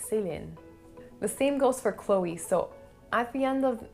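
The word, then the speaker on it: Chloé: an a sound so the e at the end of this word isn't really silent you basically have to pronounce it so you would pronounce it chloe chloe now for the next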